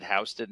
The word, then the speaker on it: Houston: is some evidence that based on accents that Sam HST actually may have pronounced it houseon not Houston uh but I will not